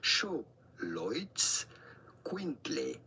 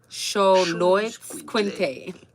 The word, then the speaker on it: Xoloitzcuintle: The X at the beginning is to be pronounced like CH. Xoloitzcuintle. Xoloitzcuintle.